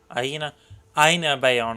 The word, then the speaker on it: Aina Bayona: Aina Bayona, that's how you say it.